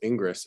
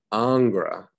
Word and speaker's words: Ingres: years and then they're like oh it's not pronounced ingress it's pronounced angra i'm like oh okay um i mean that